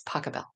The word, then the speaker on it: Pachelbel: It's Pachelbel. Yeah. Anyone want to ask me how to pronounce composers?